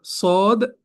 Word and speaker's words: ص: И вот сегодняшний урок уже будем проходить буква сод, дод, сод, дод. И будем узнать, как они произносятся, как они читаются и как они пишутся, иншаллах.